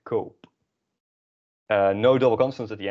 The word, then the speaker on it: koop: But no, we want to conserve this vowel sound because kopen, so it's very different than kop. This is pronounced kop. So we add another O, kope, ik koop.